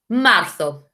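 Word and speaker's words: marzo: when we're learning a new language febrero march martho remember the zed in spain makes us sand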